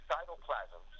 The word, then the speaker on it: Cytoplasmz: Well, actually, Cytoplasmz is what is the right pronunciation.